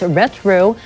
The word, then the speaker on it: Retro: algorithm-driven content the APR rtro pronounced retro plays on Nostalgia for